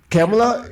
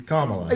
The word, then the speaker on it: Kamala: time I mentioned a name I was like camela he's like I don't think it's camela he